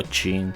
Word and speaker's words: Qing: los emperadores Qing o Qin, como quieran. Sé que se pronuncia Qin, pero me gusta Qing.